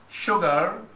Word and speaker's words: sugar: So sure sugar. This is the only two words that have su pronounced as sha.